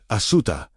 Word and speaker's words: Asuta: The Aramaic word he used, Asuta, pronounced "a-dash su-dash t-a-h", understood this fully.